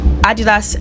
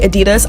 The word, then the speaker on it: Adidas: CL decided to we Adidas X blaga I know Americans say Adidas I'm British so I'm just going to say Adidas but yeah Adidas X blaga